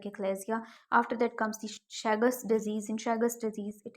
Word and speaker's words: Chagas: sad sud sudo chaga remember that Chagas or shagas mainly we read it it as pronounce it as shagas okay shagas disease you